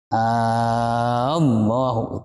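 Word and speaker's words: آللَّهُ: Itu ada Allahu, itu A-nya harus dibaca 3 alif 6 harokat.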